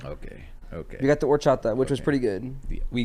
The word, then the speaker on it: horchata: The H is silent.